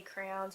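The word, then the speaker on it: crayons: I don't know how you guys say them, if you say crowns or colors or Crayolas. I mean, these are obviously Crayola brand, but I say crowns. I pronounce it crowns.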